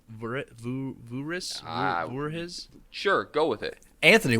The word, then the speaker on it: Voorhis: Van Hooris. I'm sure I'm pronouncing that incorrectly. 100%. Yeah, it's either Voorhuis or Van Voorhees. It's VANVOORHIS. So Voorhees.